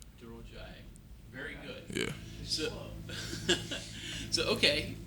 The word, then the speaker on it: Durojaiye: Either or you can say, and then my last name is Durojaiye. Durojaiye.